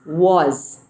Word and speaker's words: was: The third word for today is was. W-A-S. Was. Was. Okay, remember when W comes in a word, we have to say it as wa.